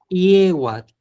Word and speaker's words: yehuatl: puedo apoyar es que acuérdate que la Y no suena como en español, es como una I. IE, IE. No digas Y, sino IE, IE, IEWAT.